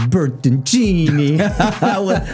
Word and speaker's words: Bertoncini: My name is David Farmer with Entice, and with me, as always, is David Bertoncini. with the proper Italian pronunciation today.